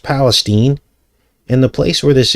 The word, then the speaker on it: Palestine: filmed in this area East Palestine now it's pronounced Palestine it looks like Palestine but it's pronounced Palestine and the place where this occurred is right